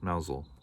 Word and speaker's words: Mousehole: many moons ago called mousel it's spelled mouse hole but it's pronounced mousel the mousel cat at the far